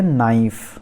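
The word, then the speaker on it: knife: उसके बाद आते हैं नाइफ, नाइफ मतलब चाकू, नाइफ। तो NIFE जस्ट हम प्रोनाउंस करेंगे के को छोड़कर। फिर नॉट मतलब गांठ बांधना, तो नॉट, के नॉट, के इज नॉट प्रोनाउंस्ड हियर।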